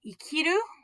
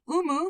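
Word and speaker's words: 生: This can be pronounced ikiru. This can be pronounced umu for to give birth, umareru to be born. It can be pronounced sei. It can also be pronounced sho.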